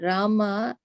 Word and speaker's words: Rama: The words Hare pronounced Hare, Krishna pronounced Krishna, and Rama rhythms with drama are Sanskrit words.